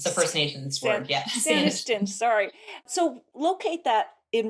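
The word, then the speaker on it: Saanichton: I'm going to mispronounce it again. Sanistishan? Saniston. It's the First Nations word. Yeah. Saniston.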